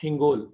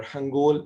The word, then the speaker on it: Hingol: So the first one is the Hingol or Hangol National Park. तो मतलब दो तरह से प्रोनाउंस करते हैं, sometimes इसे Hangol और Hingol कॉल करते हैं।